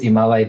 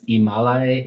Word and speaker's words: Ymalay: Um it's Imalai III. Okay. So the last name is Imalai.